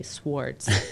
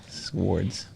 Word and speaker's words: swords: can get another example swords and i always pronounce that w i have to consciously not say swartz i want to say swartz swords and cups last but